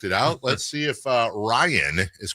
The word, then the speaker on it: Ryan: I want to make sure I'm pronouncing it correctly. Ryan? It is Ryan.